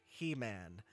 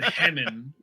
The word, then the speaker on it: He-Man: unique Universe for its Master their new character He-Man he no he man that's how you have to say it but but it's lowercase so oh so hean you're right I pronounce it hemon hemman the the action figure became one of